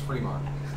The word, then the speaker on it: Fremont: There's not two E's, but I think it's pronounced Fremont.